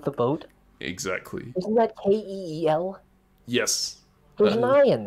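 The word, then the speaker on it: Kiel: what they're talking about when i googled how to pronounce kl um with vi the google pronunciation was kel so okay yeah okay city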